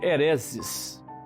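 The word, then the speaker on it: αἵρεσις: quem aceita original grego a palavra seita se pronuncia eresis os região original da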